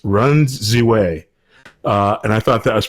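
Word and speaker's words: Ren Ziwei: a speed skater from China whose name is pronounced Run Ziwei.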